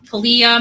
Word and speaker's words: Kalia: the McNab case um Kalia McNab and kalia's name is spelled like Callie CLA c l c a l i and then yeah you know y a so Kalia um so I'd like